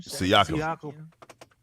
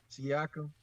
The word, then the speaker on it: Siakam: D Terrell, but ain't Siki, how do you pronounce this dude's name? Siakam. Siakam.